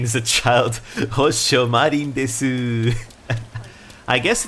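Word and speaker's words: です: It's kind of like des, right? You don't say desu, because desu is very childish, right? You say des.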